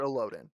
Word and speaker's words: Elodin: or Illidan, I think is his actual name. Elo Illidan, So maybe Master so Elodin. Elodin is how it's said on the audiobook, but Patrick Rothfuss does a thing where he goes over all the names Okay, and he says it as Illidan, okay, if I very remember cool.